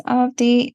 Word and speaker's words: Avadhi: The second A in the spelling is silent, so it's pronounced as Avadhi, and I'm the author of two books.